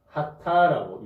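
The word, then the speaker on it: חטא: 히브리어로 죄를 뭐라고 하냐면 하타라고 읽습니다. 하타.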